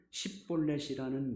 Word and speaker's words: 십볼렛: 성경에 보면 십볼렛이라는 말로 가려내죠. 에브라임 사람은 그 구음 자체가 십볼렛이라고 발음할 수 없었습니다.